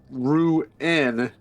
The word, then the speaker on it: ruin: A rune is a thing etched for magic. Uh, ruen is a place you go in that's abandoned. Linguistics matter.